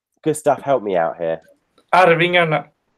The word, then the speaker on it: Arvingarna: I still can't pronounce them. Gustav, help me out here. Arvingarna. Arvingarna.